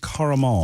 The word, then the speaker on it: caramel: Mor carel caramel caramel so your two syllables on it yeah yeah two syllables two syllables caramel but yeah I I go three I car I caramel caramel I'm from the south so you have to do caramel caramel caramel cake